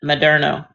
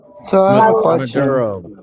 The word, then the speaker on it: Maduro: Biden is the one who put the the bounty on uh Madno. Madno. Maduro. Um, you can't even pronounce it right.